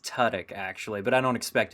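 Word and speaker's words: Tudyk: the background movie yeah i' agree Love Alan tudk I Do Love Alan tudk it's pronounced TK actually but I don't expect anyone to actually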